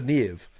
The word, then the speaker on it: Niamh: This is Commander Neve.